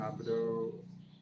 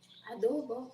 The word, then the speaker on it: adobo: Oh wow, Carol, he makes chicken abdo. Ah, okay, Adobo. adobo. Okay, I just put the emphasis on the wrong and lots of fish.